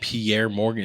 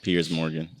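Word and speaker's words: Piers Morgan: then Pierre Morgan with why are you saying Pierre Morgan his name is Pierce Pier it's Pierce isn't it like p i e RS yeah but it's pronounced Pierce Morgan I can't see I don't read different like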